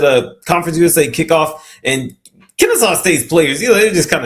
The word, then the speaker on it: Kennesaw: Kennesaw State, yep.